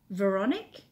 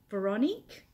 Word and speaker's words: Veronique: I'm not I'm said my name is French my full name is veronik Veronique that's nice Tammy said